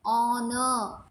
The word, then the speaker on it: honor: Honor, R, huge. Huge is the odd sound because here in honor and R you don't produce H. H becomes a silent sound.